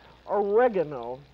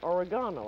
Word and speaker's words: oregano: Some people pronounce this oregano. But I always call it oregano.